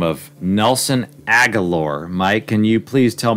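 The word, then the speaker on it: Agholor: with a guy by the name of nelson aguilor mike can you please tell me how to pronounce his name correctly before i go on we're at the nelson oh assholer yes yes so i'm i'm selling high on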